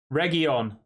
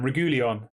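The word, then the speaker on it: Reguilón: going on here region that's how he said region what was I calling him regulian region I do apologize Reggie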